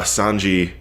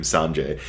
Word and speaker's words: Sanji: was talking about uh sanji oh also i finally heard how sanji's name is pronounced so i will no longer be calling him sanjay uh so sanji and